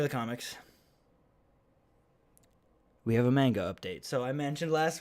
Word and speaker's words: manga: anime and stuff and i keep saying manga and he's like it's manga i'm like okay okay doesn't